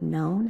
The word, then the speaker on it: known: means also known as the word known has a silent k at the beginning whale sharks get their